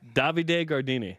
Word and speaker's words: Davide Gardini: Davide Gardini.